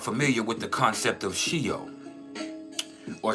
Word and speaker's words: Sheol: And for those of you that aren't familiar with the concept of Sheol, or Sheol, depending on how you want to pronounce it, this is the realm of souls.